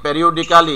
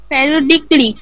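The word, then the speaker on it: periodically: হ্যাঁ, এই যে পরের শব্দটা রয়েছে যেটা হলো প্যারিওডিক্যালি, আমরা উচ্চারণ করে থাকি প্যারিওডিক্যালি, হ্যাঁ কালক্রমে, পর্যায়ক্রমে বলতে পারি এটাকে আমরা। তো এটার যদি সঠিক উচ্চারণ করি তাহলে কি হবে? প্যারিওডিক্যালির প্যারিওডিকলি।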